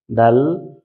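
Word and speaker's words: دال: আমার সাথে একটু বলুন জিহ্বার আগাটা উপরের দাঁতের গোড়ায় ভিতরে লাগিয়ে তা দা ত বলার সময় মুখটা হালকা একটু গোল হবে আবার আমার সাথে বলুন তা দাল ত একই জায়গা থেকে তিনটা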